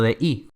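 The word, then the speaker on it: dag: que significa yo, y dei, que significa día. Si se fijan, se pronuncia exactamente igual que day en inglés.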